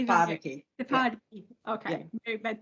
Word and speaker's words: Te Whāriki: The emphasis is on the A. Te is on the whāriki. Yeah. Tefariki.